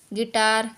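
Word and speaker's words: guitar: अब जैसे कि पढ़ेंगे गाइल, गिल्ट, गिल्ट, गिटार, गार्ड, इसके। और वी लेटर कभी साइलेंट नहीं होते, किसी वर्ड में कभी भी वी आता है तो वो साइलेंट नहीं होगा।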